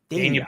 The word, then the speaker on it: Dania: or excuse me um I never can pronounce that word right Dan Dania I always get it I always say Den it's like one of